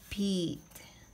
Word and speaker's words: 빛: So, when they are using ending consonant, it pronounce D, D, D. 숯, 곧, 빛, okay? So, we're gonna write 빛, 빛. Beat, beat, beat.